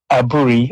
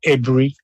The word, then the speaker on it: Aburi: But I hope overall we got the idea why Aburi, I'm told it's pronounced Ebri, where the Ebri Accord became a discord.